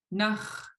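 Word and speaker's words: náx̱: So let's start with the last syllable, the N, high tone A, underline X. Everybody repeat after me. Nach. Nach. Nach. Nach, Nach. nach, Nach. Nach. Nach. Okay. Yeah, keep it nice and short.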